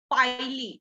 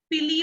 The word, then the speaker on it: pili: which is known as पाइली। इसका pronunciation पाइली होता है, ठीक है, पिली वगैरह मत बोलना, पाइली बोलते हैं इसको।